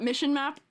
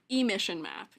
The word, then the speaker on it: emission map: Texture at No, not mission map. Emission map. I might have not said it right.